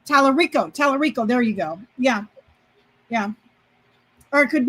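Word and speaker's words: Talarico: Ticcarello. I can't pronounce his name. Tallarico.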